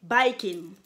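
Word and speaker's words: バイキン: Pour ce qui est d'une bactérie, ça se prononce comme les bikers, là, OK? Donc, on dit biking.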